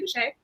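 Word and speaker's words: Bouchet: So I have the latest Amanda Boucher, and I always feel as if I'm going to say her name wrong, but it's Amanda Boucher.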